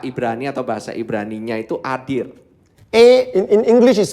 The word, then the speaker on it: adir: Jadi di perkataan dari ini ya, kata-kata mulianya itu berasal dari kata Ibrani atau bahasa Ibraninya itu adir. In English is spelled as A-D-I-R.